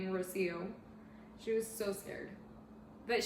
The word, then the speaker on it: Rocío: was so scared to say my name is rocío she was so scared but she said it